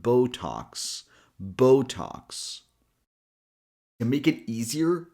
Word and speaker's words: Botox: And imagine X here is actually a combination of the letter K and the letter S. So the second syllable is talks. So the full word sounds like Botox.